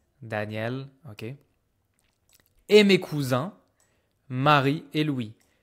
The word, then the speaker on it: cousins: Et mes cousins Marie et Louis. Careful pronunciation. This is not cousine. I don't hear the N.